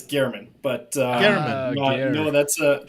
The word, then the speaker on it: Germann: figure out what that is but are we pronouncing it correct is it German it's uh it's Gman but uh no that's a that's a funny